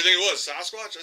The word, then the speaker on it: Sasquatch: Sasquatch, not Sasquatch. We say it wrong. I say it wrong sometimes, but anyway, so now he's got an open mind.